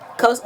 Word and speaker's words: Xhosa: And they spell it Xhosa, but Yeah. it's pronounced Kosa.